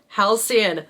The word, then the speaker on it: Halcyon: Halcyon.